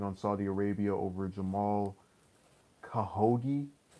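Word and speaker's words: Khashoggi: Saudi Arabia over Jamal kaha ghee that's how you pronounce his name wish they could have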